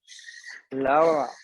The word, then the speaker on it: Laura: perfect spanish name yeah spanish pronunciation is a bit different it's lao all right yes laura we don't have accents laura has a flat pronunciation awesome awesome so today